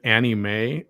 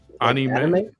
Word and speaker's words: anime: one of those must-see uh man he said annie may anybody is that what i said isn't that what it is or how do you say it anime anime not anime i didn't even realize it